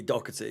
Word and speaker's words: Doherty: I mean, if that's how he pronounces it, then I'll. It would absolutely be Doherty, yeah. Okay, so then that's the correct pronunciation.